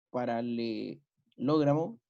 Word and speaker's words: paralelogramo: Tercero, los lados opuestos de un paralelogramo son congruentes. Después ponerle tilde, y aquí me dice que es sin tilde, por lo tanto la pronunciación correcta sería paralelogramo.